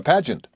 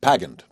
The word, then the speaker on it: pageant: like Barry, or a pageant." He pronounced it pagant. He rhymed pag with rag.